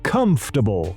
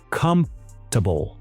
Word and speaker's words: comfortable: Comfortable, una de las palabras más difíciles de pronunciar en inglés. Confortable, cómodo. Comfortable. Hay muchas letras que no se pronuncian.